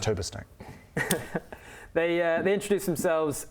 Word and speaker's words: Hurberstang: why that's pronounced tuber snake.